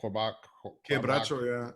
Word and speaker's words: Quebracho: Quebracho, yeah. Quebracho, and then the eucalyptus.